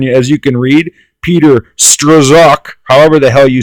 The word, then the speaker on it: Strzok: you can read Peter stroszek however the hell you say his name I can not very good in Klingon I think it's Peter stroke because I know it's not struck how he absolutely destroyed